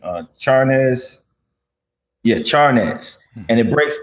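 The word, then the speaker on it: Charnas: payback by dan uh chart how do you pronounce his name uh charnes yeah charnes and it breaks down like hip-hop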